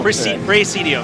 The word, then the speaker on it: Praesedium: show us a bit of their game called Praesedium. Is that how I pronounce it? Yes, that's right. I didn't butcher it, right? No. No. Praesedium. Yes. Praesedium.